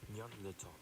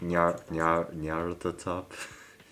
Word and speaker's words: Nyarlathotep: I don't know how to pronounce that. What do you call that? That is the Nyarlathotep Sonic. Nyarlathotep.